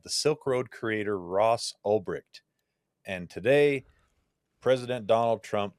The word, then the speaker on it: Ulbricht: Oh, it's spelled wrong in the article, link. but spelled right on the title. Oh yeah, Ulbricht.